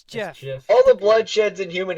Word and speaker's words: GIF: that gif yeah GI true it's GI it's Jeff all the bloodsheds in human history have been